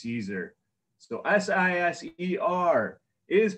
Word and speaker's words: Siser: My first lesson every time I do these classes is how to properly pronounce Siser.